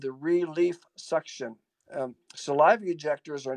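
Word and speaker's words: Xuction: the aerosols very quickly there's also another one called suction is x u ct ion or it is spelled with a z x instead of a z and it sits on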